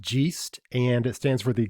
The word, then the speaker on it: GEIST: happens through the Gast International Foundation it is pronounced Gast and it stands for the global Educators Initiative